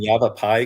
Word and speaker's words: Yavapai: Pronunciation is Maricopa. Maricopa and Coochis. Coochis. Not Coochis. Coochis. Correct. Yeah. Am I saying Yavapai correctly?